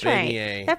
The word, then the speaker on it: beignet: pronunciation. It says beignet. Like Okay, so it is right then. So it is beignet.